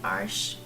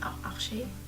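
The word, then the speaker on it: Arches: I don't know how it's pronounced, but I don't want to say Arsch because that's the German, that's a very not nice German word for booty, so I'm not using that word. I'm saying Arche.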